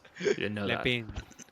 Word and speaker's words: Lampent: Lampent. Lampet. No, it's French, Salt. The T is silent. You didn't know that. Lampin.